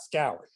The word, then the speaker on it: Schou: unique pleasure to be in conversation with nicholas schaub nick is an award-winning investigation sorry i should have said it's actually pronounced yeah all right but we can edit that out scour you know and i thought to ask you